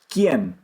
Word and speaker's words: quién: Quién. Quién. In English, qui. It's not the same word. I'm just comparing phonetically. Quién. Qui. Qui. We blow out.